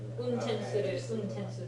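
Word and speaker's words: 運転する: that particular word that's This one you pronounce the oo a little bit more. Untensuru is the right pronunciation.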